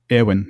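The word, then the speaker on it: Éowyn: What's interesting here is that suggests that that um Aowin should actually be um two syllables, not three. Yeah. Awin, not awin, but just Awin.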